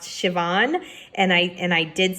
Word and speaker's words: Siobhan: The main character, I pronounced her name wrong, I believe is pronounced Siobhan, and I did say it wrong.